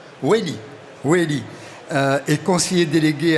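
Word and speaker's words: Wailly: On prononce comme ça, Michael? Wally ou Welly? Welly.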